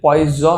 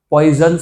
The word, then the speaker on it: Poisson: कौन साइलेंट है ए तो ये पॉइज है पॉइजन रेशो नहीं है यहां पे कोई पॉइजन नहीं है इट इज पॉइज रेशो कौन सा रेशो पॉस